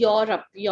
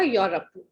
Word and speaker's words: Europe: Europe नहीं, Europe. Europe. Europe. Yes. Thank you, ma'am. बिल्कुल silent हो जाएगा. यूरोप.